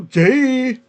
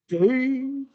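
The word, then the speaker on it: Gueye: And I don't know about Mogri or Gay, which is actually how you kind of say his name. Gay. It's funky spelled, but I think it's gay.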